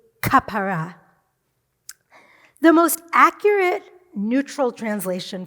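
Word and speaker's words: כפרה: a gentle exploitive that he pronounces as aapor in Hebrew it would be kapara the most accurate neutral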